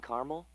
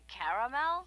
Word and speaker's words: caramel: I'd like it in caramel. Oh, the caramel?